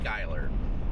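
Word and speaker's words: Schuyler: Shul or Skyler? It's pronounced Skyler.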